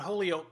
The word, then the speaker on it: Mount Holyoke: sophisticated transplant from mount holyoke college they taught us to pronounce it like the holy oak of an egg she once explained she